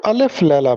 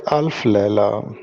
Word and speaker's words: الف لیلہ: ہوتا ہے رات۔ اچھا، اس کو الف لیلہ پڑھتے ہیں، جبکہ درست تلفظ ہے الف لیلہ۔ چوتھی معروضی ہے صبرس،